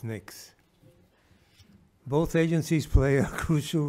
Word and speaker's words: NICS: more commonly known as NICs pronounced as NICs both agencies play a